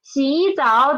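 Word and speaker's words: 洗澡: So 洗澡, there are two third tones. What should we do? Change 洗 into 洗.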